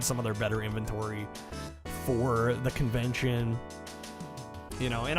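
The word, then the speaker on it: phở: You'll drive four hours for Blockbuster. I mean, hey, go for it, man. Lived in the Midwest. So, you heard foe pronounced or uh foe pronounced as foe your entire life.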